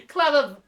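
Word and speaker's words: Clavileño: I believe it is claveno, first of the blessed, or if you're American, it would be claveno.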